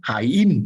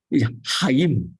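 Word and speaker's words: Chaim: And you don't pronounce it like in English. You don't say chime. It is a strong H. So his name is actually Hayim Batok. Hayim is a strong H.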